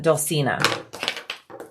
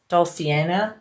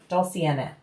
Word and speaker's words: Dulcinea: Lisa, I am making the uh Dulcina from Shambala. Dulcinea? Dulcinea. Dulci nea. There you go. Dulcinea. I have said it wrong so many times.